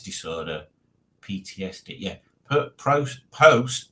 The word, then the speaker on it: post-traumatic: Yeah, post, not prost.